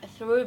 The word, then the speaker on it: trub: thank you JK and now we know what through is oh W that's actually the correct way of pronouncing it oh wow high five